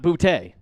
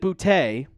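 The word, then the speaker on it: Boutte: But if you look at the pronunciation that the Patriots give, it says B O T E E. So bouty, not bouty.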